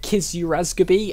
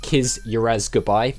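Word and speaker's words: Kiz Urazgubi: i was calling it kisurasgaby and i just could not figure out what that was supposed to be it's believe oh i believe it's supposed to be pronounced kiss your ass goodbye as a clever little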